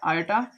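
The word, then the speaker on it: iota: इसे सिंपली आप आई पढ़ सकते हैं, बट ये इसका प्रोनाउंसिएशन होता है आयोटा या आई बाटा होता है, या आप सिंपली आई कहेंगे इसे।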